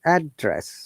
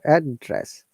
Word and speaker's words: address: intonation to lower interest address so address but if it is used as verb then we stress on the second syllable so it is down